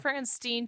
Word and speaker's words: Frankenstein: Frankenstein and he says Dr. Frankenstein to rhyme with mean.